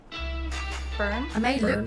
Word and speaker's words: Byrne: ethan hawke Rose Byrne Brian all right Brian how do you say that burn I may look like